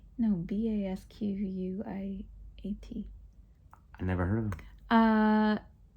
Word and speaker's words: Basquiat: Sasquatch? No, Basquiat.